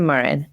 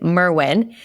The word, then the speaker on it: Merwin: today it's my honor I realize I said your last name wrong Kristen Merwin I know her well